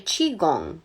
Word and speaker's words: qigong: I don't know if I'm pronouncing that correctly, but I do know that Qigong is actually Qigong. That's how, I know that the QI is not pronounced QI. It's CHI.